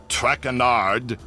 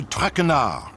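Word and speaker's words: Tracqueur: butchered while i eat as for my name not trackanard it is trackner track renard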